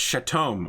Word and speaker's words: Chatome: His name's not Shadow, and in his native language, it's Chatome, which is a very common name. It's just the first person who heard him say it couldn't pronounce it correctly. Yeah, he's just he was an angsty teenager and just kind of went with it. Just didn't want to be there anymore. It's like, no, it's Chatome.